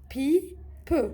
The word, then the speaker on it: pipe: Le E هنايا il est muet ما نسمعوش ما نطقوش. Le L et le A c'est la. Le P et le I c'est pi. Le P et le E c'est peu. La pi peu.